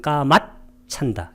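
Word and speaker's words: kāmacchanda: 이게 여기 까마하고 씨자를 삽입자음으로 들어간 거예요. 이게 그래서 발음할 때는 까맛 찬다 이렇게 감각적 욕망의 니와라나 장애.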